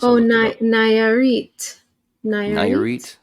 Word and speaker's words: Nayarit: Nayarit. Nayarit? I assumed it's pronounced Narit.